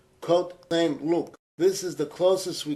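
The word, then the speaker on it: Côte Saint-Luc: of synagogues in a suburb of Montreal called Cote St. This is the closest we can come to its proper pronunciation.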